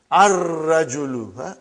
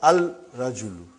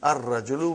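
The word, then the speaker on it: الرجل: Ar-rajulu. The man. Not al-rajulu. It will be wrong to say al-rajulu. It will be ar-rajulu.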